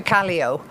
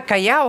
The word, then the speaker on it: Callao: and saying, "Vamos a Callao ahora." So she will use the 2 different pronunciations in the one sentence depending on what language she's speaking. So basically the English for Callao is Callio.